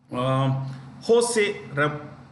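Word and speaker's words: José: Always remember they use H in place of a J. When they write J, it's pronounced with Ha, basically.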